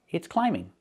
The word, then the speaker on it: climbing: Remember, with the verb climb, the B is silent. I cannot say climb, and I cannot say climbing. It's climbing.